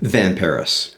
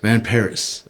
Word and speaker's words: Van Parys: Van Paris. Van Paris. Okay. Just like the city.